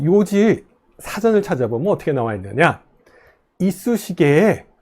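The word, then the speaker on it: 楊枝: 라고 발음합니다 요직 조금 전에 이쑤시게 있었죠 있으시길 요지 라고 읽는다 고 했죠 그 요지가 바로 양지 입니다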